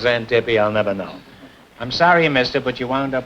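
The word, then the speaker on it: Xanthippe: No, it's Zantippi. and it's spelled X A N T I P E. And why it's pronounced Zantippy, I'll never know.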